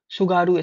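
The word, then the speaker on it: Tsugaru: सुगारू है कि नहीं सुगारू स्टेट टी साइलेंट है।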